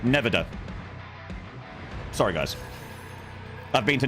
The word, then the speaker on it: Nevada: That's not how to pronounce Nevada. Oh, sorry, Nevada.